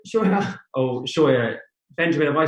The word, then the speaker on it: Scheuer: My name is Benjamin Scheuer. My last name rhymes with lawyer.